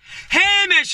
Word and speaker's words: Hamish: James, is it? Hamish, it's pronounced, John, not James.